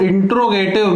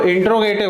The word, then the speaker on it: interrogative: अब यदि मान लीजिए ये दिया होता है कि इसको इंट्रोगेटिव मीन्स प्रश्नवाचक बनाइए, इसमें भी ध्यान रखना, कई बार अक्सर बच्चे इसको इंटेरोगेटिव बोल देते हैं, वो इंट्रोगेटिव, उसका सही प्रोनाउंसिएशन जो है इंट्रोगेटिव।